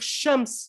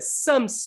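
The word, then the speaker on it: شمس: Quand j'étais en Égypte, j'avais des frères d'Afrique, ils n'arrivaient pas à dire shams, ils disaient sams, as-sams.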